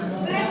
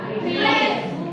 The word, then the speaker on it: QRIS: QRIS atau ada yang baca QRIS nggak?